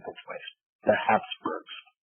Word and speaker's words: Habsburg: H-A-P-S-B-U-R-G, or H-A-B-S-B-U-R-G, it's spelled both ways. The Habsburgs, right?